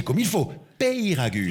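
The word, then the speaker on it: Peyragudes: Préciser bien de préciser à la station deud pay non prononcer comme il faut. Payragude. Payragude.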